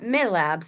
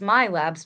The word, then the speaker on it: MILABS: People pronounce that all the time wrong. It's not milabs, it's my labs, but it's spelled wrong with an I.